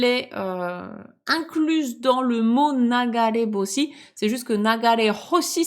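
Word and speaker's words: 流れ星: Mais là, comme elle est incluse dans le mot nagare boshi, c'est juste que nagare hoshi, c'est compliqué. Donc, ça se transforme en nagare boshi.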